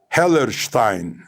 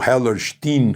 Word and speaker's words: Hellerstein: O juiz se chama Alvin Hellerstein ou Hellerstein, como os americanos pronunciariam, né?